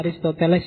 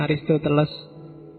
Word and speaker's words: Aristoteles: bacanya Aristoteles ya, bukan Aristoteles. Ya, sok-sok diwaca Aristoteles. Kalau dalam bahasa Arab Aristo saja sebenarnya.